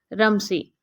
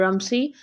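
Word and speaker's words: Rumsey: उसके बाद third character हमारा है रमसी। इसको रमजी भी आप प्रोनाउंस कर सकते हैं एंड रमसी भी कर सकते हैं, डिपेंड करता है आपकी प्रोनाउंसिएशन पे।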